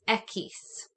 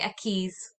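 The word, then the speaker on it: equis: in spanish like reese ekis okay don't say a keys because when you're going to sound like a crazy person ekis put all of your emphasis on the e y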